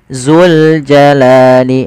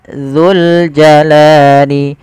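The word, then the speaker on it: ذو الجلال: dalam melafalkan huruf dalal jangan sampai ia terbaca dengan huruf Zai misalkan wabq wajhuikaul zuljalali harusnya dzu bagaimana melafalkan huruf dalal yang tepat yaitu ujung lidah kita menempelkan dengan gigi seri atas kita dza dzi d dza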